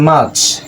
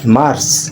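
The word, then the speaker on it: March: যে স্যাটারডেই আর উচ্চারণ নাই। কারণ আর এর পরে কি আছে? কনসোনেন্ট আছে আলোচনাটি হবে না তার দেখেন মাচ এম এ আর সি এইচ মাচ নট মার টলবি মাচ কারণ আর পরে কসন্ট আছে আর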